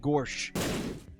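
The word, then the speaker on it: Gorsuch: ] sternum or Gore's gawrsh is how you have to pronounce it gawrsh like neo gawrsh Gor shook the Supreme Court Court judge Neil Gore shook get away from him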